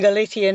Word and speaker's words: Galicia: You're pronouncing it with a Castilian pronunciation, so you're saying Galicia and I'm saying Galicia, and I may not be able to change my pronunciation. The answer to either. And in fact, in Galician, it's Galicia with a Z.